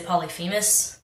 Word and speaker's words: Polyphemus: say it pous and some people say polyphemus or polyus or whatever you know what I